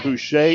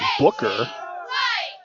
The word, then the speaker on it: Boucher: In the first series, I was pronouncing the quarterback's name, Boucher. It's Booker.